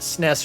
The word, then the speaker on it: SNES: And by the way, that SNES rhymes with Ness like Nintendo Entertainment System.